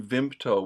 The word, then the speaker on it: Vimto: Correct pronunciation, Vimto.